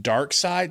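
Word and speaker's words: Darkseid: Well, it's pronounced dark side.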